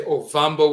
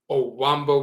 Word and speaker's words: Ovambo: Some say Ovambo with a V. Some say Owambo with a W.